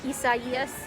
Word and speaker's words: Isaias: Isaias. Isaias. I keep wanting to call it Isaias. That's what I thought it was when I first saw it written out, but it's pronounced Isaias.